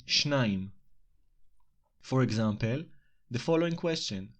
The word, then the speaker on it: שניים: In this case, we say שניים, not shnei as in construct state.